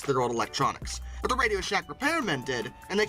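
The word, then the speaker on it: RadioShack: from Radio Shack to radios hack okay it's still pronounced Radio Shack they just removed the space and in '96 they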